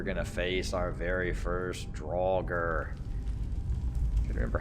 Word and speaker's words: draugr: face our very first draugur remember how you pronounce these things but turns out one of the characters pronounced at some point and it's drawled close enough just a regular one